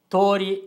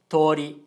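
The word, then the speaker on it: とおり: we pronounce the word is pronounced as tori with a long o sound but in japanese o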